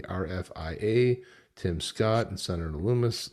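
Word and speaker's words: Lummis: Tim Scott and Senator Lumis Lumis rhymes with hummus.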